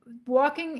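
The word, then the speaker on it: waulking: women walking the cloth and walking is spelled w-a-u-l-k-i-n-g it was is not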